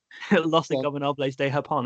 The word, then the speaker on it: Los Ingobernables de Japón: I want to hear you pronounce it. Los Inagulables. Los Ingobernables de Japón.